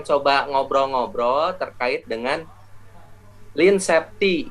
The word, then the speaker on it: Lean Safety: ngobrol-ngobrol terkait dengan Hai LINE Septi nah cara bacanya Line Septi jadi Line itu dalam bahasa Inggris artinya kurus bus ramping Nah jadi Line Seti tapi dalam bahasa lugas